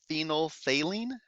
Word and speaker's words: phenolphthalein: second one there phenol the second ph is silent we pronounce that phenolphthalein phenylphthalein and that's the